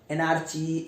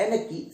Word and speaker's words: anarchy: ध्यान रखना, ANARCHY, एनआरची, एनआरकी, एनर्की, सही प्रोनाउंसिएशन इसका एनर्की, ठीक है ना। ये जो आर वाला साउंड है, सी वाला साउंड है, बिल्कुल नहीं बोलना है, एनर्की, ठीक।